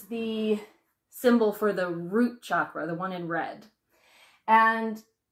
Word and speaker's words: chakra: And one of the reasons why that happens is because of the chakras. You may have heard the word chakra, which is a common mispronunciation of the word chakra. It's that ch-ch-chakra sound.